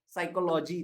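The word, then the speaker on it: psychology: बात को सही से कि साइकोलॉजी, लेकिन आप लोग लिख गलत दोगे, शायद आप पी भूल जाओगे क्योंकि वो साइलेंट था।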